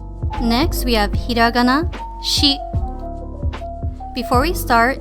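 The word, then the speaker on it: し: shi before we start if you notice it is written as a sheet with a s h i in english we pronounce she with the s-h-e like if we were to say she is a student but for this pronunciation make sure that it is she with an i and just a little note there is no s i pronunciation in japanese so there will never be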